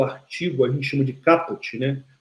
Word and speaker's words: caput: a gente chama de caput, né? Caput se escreve assim. Caput, mas fala caput, vem do latim cabeça, ou seja, é a parte principal de um artigo, né?